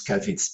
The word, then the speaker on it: cavés: Alors, cavets, en fait, on prononce cavets.